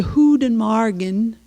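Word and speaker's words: goedemorgen: just say good morning you say who did Morgan that's how you say good morning uh in In Bruges and they also we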